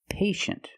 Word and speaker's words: patient: With patient, we see T-I-E, making the sh sound. Patient. The first syllable is a long A, like day and pay, pay, and shin. The second syllable is a closed sound. Sh, sh, shin.